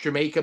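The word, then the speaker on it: D'yer Mak'er: I think they played, with the exception of Dire Maker. Isn't it pronounced Jamaica?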